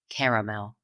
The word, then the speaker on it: caramel: Southerners and East Coasters we Embrace that second vow and we spread this candy out to three syllables caramel yeah literally spell um